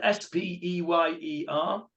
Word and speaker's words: Speyer: Spelled S-P-E-Y-E-R. Pronounced Speyer.